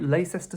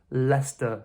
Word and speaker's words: Leicester: So remember the rule when we have 'cester', what do we tend to do with 'cester'? We remove that middle syllable. So this is simply pronounced Leicester Square.